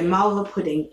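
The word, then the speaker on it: malva pudding: gonna have to do it um but anyway marvel pudding is about m a l v a and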